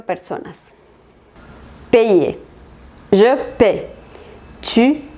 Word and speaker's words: paye: Pero si lo ponen con Y, la pronunciación va a cambiar. Sería je paye, tu payes, il, elle, on paye, nous payons, vous payez, il, elle paye.